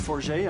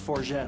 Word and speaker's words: Forget: My My name is Forget. I'm from Toronto, Canada. It could be pronounced Forget also, but I prefer the more pretentious version.